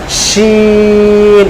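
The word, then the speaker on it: ش: তো আমরা যদি ইংরেজিতে বলি শিওর, শিওর, শিওর বললে যে শিওরের শুরু যে সাউন্ডটা আসে সেটা হলো শিন।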